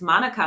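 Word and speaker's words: mānuka: I realized for the first time that we are mispronouncing what we call Manuka honey. right. And there's an accent on the A, and this lovely woman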